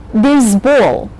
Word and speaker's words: baseball: Notice that all the games that have the ball syllable in them have the accent on that syllable. So you say basketball. You have to save your breath for the very last syllable in this word, which carries a very strong accent.